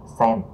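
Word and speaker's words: 川: Rồi còn âm Hán của nó ha, thì xuyên chuyển qua mọi người sẽ đọc là sen.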